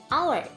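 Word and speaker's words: hour: Di sini kata our berawalan huruf H. Tapi ketika diucapkan dalam bahasa Inggris, bunyinya menjadi our. Pengucapan huruf awalnya adalah O, bukan H.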